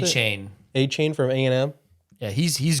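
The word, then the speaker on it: Achane: I saw Devin Achney, is that how you pronounce it? A-Chain.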